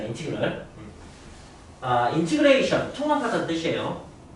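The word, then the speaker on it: integral: 그리고 읽는 건 이렇게 합니다. 인티그럴이라고 하는데 인티그럴? i가 이겠지? 인티그럴. 라고 읽습니다. 인티그럴.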